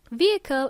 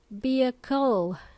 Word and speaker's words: vehicle: There is a silent h in this word. vehicle. It's spelled as a B E H I C L E. And we only say vehicle.